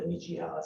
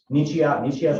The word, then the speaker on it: Nichiha: so all of it's brick except for how do you pronounce the niche? Nichiha is a type of cement board. It's Nichiha.